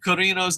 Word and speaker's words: Cuerno: To pronounce King Cuerno's name, Dave, just say the word dare or pair, but replace the letter D or P of the word with Q. So, Cuerno.